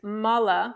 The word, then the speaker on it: mala: There's the mala that we use to do japa, that we wear around our neck. And there's mala with a long A that are wastes in the body.